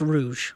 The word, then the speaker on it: Rouge: It's pronounced Rouge. Oh, Rouge.